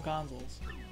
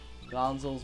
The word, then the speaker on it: Gonzales: Fine, we'll call them Gonzales. Because it rhymes with tonsils. Gonzales, Monzels, Tonsils.